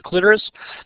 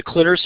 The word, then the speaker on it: clitoris: the precipice of the clitoris you see the clitoris or clitoris both pronunciations are correct so the labia majora